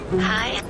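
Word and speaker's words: hej: Yeah, so hello is H-E-J. Hedge. Hi. Hi. It's hi. Hi. So it's like H-I, but okay.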